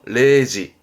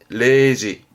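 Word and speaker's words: 零時: 레지 레지 영세 영세한 영세업자 영세였습니다.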